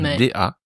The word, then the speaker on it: 大: Da 4e ton. Personnellement, je le prononce comme un t.